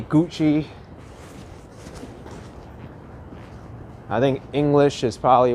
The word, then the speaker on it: Gucci: can't get around and i can't pronounce gucky correctly it needs to be gucci i think english is